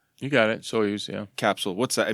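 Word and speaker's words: Soyuz: am I saying it wrong you got it soos yeah capsule what's that I mean I've it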